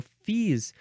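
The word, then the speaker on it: Fils: this is used so fees oh what's an example of a let's look up an example of a uh last name let's see example of last name with Phils but it's pronounced fees uh let's see let's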